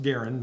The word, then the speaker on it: Garand: have the the M1 Garen and it is pronounced Garen not gar and not otherwis Mr Garen himself said is pronounced